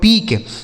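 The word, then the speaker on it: peak: यह देखिए पी ई ए के, पी से हो गया दोस्तों प, ई ए का उच्चारण बड़ी की मात्रा, के से हो गया क, यह लिखा गया आपका पीक, पी ई ए के पीक, ठीक है।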